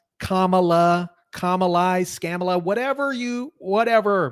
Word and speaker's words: Kamala: me that that is still the topic kamla camela Kamala Kamai Scala whatever you whatever man dude where's